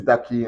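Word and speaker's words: Darki: to tell you guys my name is daki and then it is spelled d-a-r-k-i obviously you know it's double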